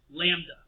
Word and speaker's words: lambda: letter again it's pronounced lambda L a.m. be like a lamb duh what else would it